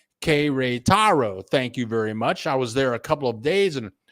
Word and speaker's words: Querétaro: Okay, pronounced Querétaro.